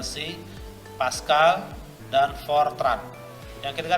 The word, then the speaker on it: C#: Nah, ini C# ini bacanya C#, tulisan adalah C dan pagar. Kalau kita sering di laptop, di HP itu ada tanda pagar. Itu adalah bacanya C#.